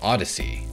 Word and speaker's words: Odysee: on the market and it's called odyssey spelled o-d-y-s-e-e yeah i'm gonna take